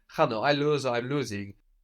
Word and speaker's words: χάνω: The verb I lose or I'm losing is χάνω, χάνω. Χάνω. So that's spelled with a letter that looks like an X.